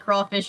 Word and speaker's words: crayfish: I was always taught that you pronounce it like crawfish even though it has a Y in it. Even though it looks like crayfish, but I guess that's just a southern thing.